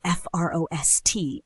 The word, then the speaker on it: frost: We spell it F-R-O-S-T, and the trick is to keep the vowel short and open. It is pronounced frost. Exactly. Don't let it slide into an O or an sound. It's a crisp, sharp frost.